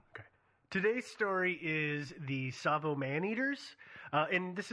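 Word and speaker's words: Tsavo: these man-eaters sorry okay today's story is the savo man eaters uh and this is a listener's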